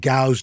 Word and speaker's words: Gow's: Like there was a dairy when I was growing up just outside of Queens in Elmont, New York, called Gow's Dairy. Gow's rhymes with cows.